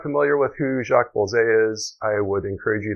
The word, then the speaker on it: Bolsey: Now, I know for sure it is not pronounced Bosley. You'll hear some people call it a Bosley, but if you look at the spelling of the camera, it is clearly Bolsey or Bolsey.